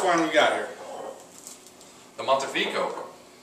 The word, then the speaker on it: Montefico: The Montefico. Pronounce it right?